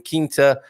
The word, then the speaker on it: Quinta: Carl, a small hint when saying Quinta, you say it like Quinta.